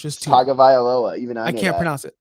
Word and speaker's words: Tagovailoa: Tagovailoa. Even I I know can't that.